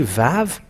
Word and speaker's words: Vav: here is it and it is a v indeed not w a v and when we say VAV V A V so it is V it is V not W no and it's an